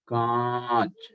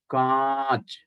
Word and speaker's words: कांच: But कांच, कांच, air will come from mouth and nose.